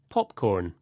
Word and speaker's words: popcorn: With compound nouns, the stress usually goes on the first part, like this. Popcorn, ice cream, keyboard.